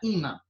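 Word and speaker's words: ímã: Olha só, eu tenho aqui a palavra imã, né? Imã separa aqui, ó. Se fosse para eu separar, seria aqui. Imã, imã. É assim? Imã, imã, imã. É. Então, qual é a sílaba tônica?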